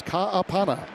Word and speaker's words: Ka'apana: Hawaiian background, so it's Ka'apana.